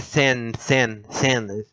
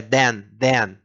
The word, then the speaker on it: then: Mas é then. É um D. Eles pronunciam como um D.